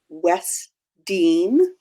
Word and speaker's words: Wesdyne: down so I'll start my name is is pronounced West Dean I'm in Spring Lake